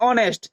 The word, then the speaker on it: honest: HONEST, इसे हम लोग क्या पढ़ते हैं? एच की ध्वनि नहीं निकालते हैं। ONEST, इसे हम लोग क्या पढ़ते हैं? ऑनेस्ट, और एच की ध्वनि